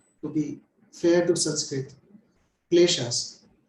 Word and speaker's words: kleshas: be fair to Sanskrit, kleshas. In English, most of the times we would keep the K silent, but here let's pronounce it as Sanskrit is kleshas.